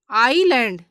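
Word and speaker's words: island: देखिएगा इसमें देखिए जैसे आईलैंड तो यह देखिएगा एस आई और एल के बीच में आ रहा है तो यहां पे एस का उच्चारण नहीं किया जाएगा नेक्स्ट देखिएगा आईलेट यहां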